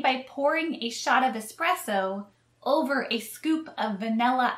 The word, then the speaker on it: espresso: may be slightly different please note it's espresso not expresso espresso espresso the next drink